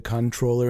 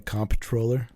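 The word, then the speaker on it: comptroller: between the con the controller and the comp troller and that's yeah the difference is the comp troller is how you say it if you don't know how to pronounce it Marine Corp so there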